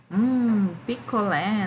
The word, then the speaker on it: picolé: Qual é a sílaba tônica do picolé? É a ulé.